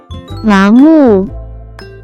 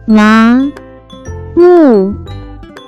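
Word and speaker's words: 麻木: can be pronounced as 麻木，麻木，麻木。 Let's break down it to understand it even more. It has 2 characters, pronounced with 2nd and 4th tone.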